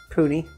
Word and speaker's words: Puni: I always go to Total Wines and More, and so you might be able to buy Pune here, but it is Puni.